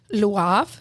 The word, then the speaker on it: Le Havre: We ended up going to Le Havre, which is spelled Lehavre.